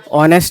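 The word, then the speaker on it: honest: ये क्या ऑनेस्ट है कि ऑनेस्ट है? ऑनेस्ट है। एज साइलेंट हो जाता है।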